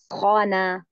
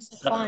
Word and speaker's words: سخانا: نعم أريد خانة. نہیں صحیح نہیں ہوا. تلفظ میں غلطی ہو رہی. أريد سخانا.